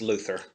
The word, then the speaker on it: Luthor: And I guess we've got to succumb to the fact that it's going to be pronounced Luther. Because that's how everybody pronounces it.